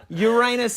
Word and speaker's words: Uranus: being mispronounced very much pronounce that as two words that's fine and that's because uranus is a planet right that's right so there's